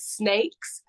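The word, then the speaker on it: Snayx: If you like more of the punk side of things, I recommend a band called Snakes. It's spelled SNYX.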